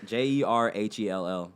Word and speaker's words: JERHELL: The H is silent, man. JERHELL for anything else, whether it be music, YouTube, all the good stuff.